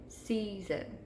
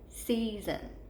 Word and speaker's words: season: We hear that long E in the first syllable. So practice it again, season, season. You hear the long E before your chin ever hits your hand, which means it's in that first syllable, season, okay?